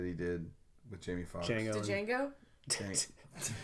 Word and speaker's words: Django: Django. Django? The D is silent, The D bitch. is silent. He literally a line from the movie. D is silent, bitch.